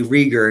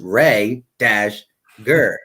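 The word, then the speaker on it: Reagor: let me say Rhaegar because I always say Rieger and and a couple people in my last video was like it's pronounced ray - gur so let me say Rhaegar instead of Rieger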